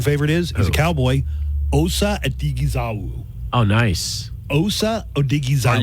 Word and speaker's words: Odighizuwa: Osa Odighizuwa.